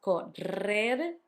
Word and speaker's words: correr: Correr, to run. You had the double R between the two vowels, correr, hard, and the soft one at the end, to run.